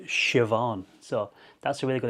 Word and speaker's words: Siobhan: It's Shioon if you know Siobhan. So that that is spelled S I O B H A N. So sepan but that's pronounced shioon.